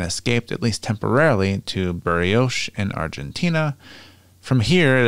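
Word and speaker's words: Bariloche: barrios which is b-a-r-i-l-o-c-h-e which i know i'm butchered the pronunciation of this refers to the theory that hitler had killed doubles in his bunker and escaped at least temporarily to buryoce and argentina from here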